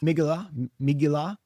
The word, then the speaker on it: Megillah: A megalot. Is that how you say it? Megaloth? Megillah. Is that how you say it? Really? That's how David Foreman says it. Okay. Well, then that's got to be right then.